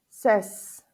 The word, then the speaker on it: says: Hay algunos verbos que tienen una pronunciación irregular en la tercera persona del singular. Ejemplo, do, el verbo do, hacer. Cuando, este verbo, al momento que se le agrega la S, se le agrega una ES a este verbo, does. Say, says. Ok, aquí hubo una pronunciación diferente al momento de agregarle la S.